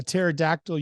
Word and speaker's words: pterodactyl: can't you hear a pterodactyl using the bathroom the p is silent how do you find